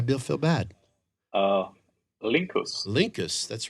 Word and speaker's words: Linckus: it all I will feel bad uh lincus Linkus that's right Linkus that actually sounds yes